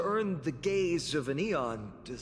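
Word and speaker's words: Aeon: the gaze of an eon. I keep forgetting that they're pronounced eon. That does not look That does not look like it's pronounced eon.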